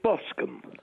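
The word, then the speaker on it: Boscombe: where have you been it's bosum bosum as as I suggested it's spelled b o s c o m b e it's bosum it's spelled the same as alron therefore it's BOS but Mr Perry you've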